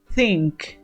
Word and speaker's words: think: Recuerden que para pronunciar este tipo de verbos que comienzan con th, ustedes deben poner la lengua entre los dientes. Think, think.